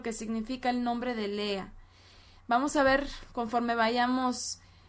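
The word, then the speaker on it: לאה: de lea lea cuyo nombre en hebreo se pronuncia lea y su nombre se escribe así como lo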